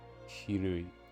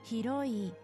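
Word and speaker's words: ひろい: Hirui. Hiroi. Hiroi. Hiroi. I don't know why I said Ru. Hiro.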